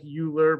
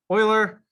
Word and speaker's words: Euler: actually pronounced euler it kind of looks like euler but it's actually pronounced euler and so they named it in his honor